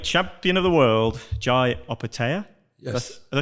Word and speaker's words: Opetaia: this uh cruiserweight champion of the world Jai operatea yes did I say that right yep yep